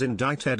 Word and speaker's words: indicted: without changing how it was pronounced I always pronounced it as indicted and have never really thought about why it